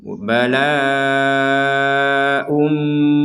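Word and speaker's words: بلاء من: Bala ummi, jadi dimasukkan. Jadi dimasukkan dengan dengung itu artinya apa ya? Jangan sampai dibaca jelas. Kalau dibaca jelas bala unmi, ya secara tertulis memang unmi gitu.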